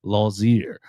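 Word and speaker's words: Lotzeier: Like I do think Lozier or excuse me, I'm gonna have to I'm going to have to I'm gonna have to train myself on that. There's no T in the pronunciation. Lozier.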